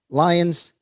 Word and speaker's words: Lyons: real estate investing and today i have tim lyons did i pronounce that correctly you did all right perfect